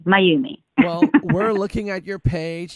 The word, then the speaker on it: Mayumi: my Y or ume because my name spelt ma why you mi and I have gotten like so many different variations of pronunciation name that I'm like let me help you so it's mine you me my you me we're looking at your